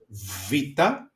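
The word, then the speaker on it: βήτα: makes is a okay then we have vita vita okay the sound is v v and we have the example vivo that is the book.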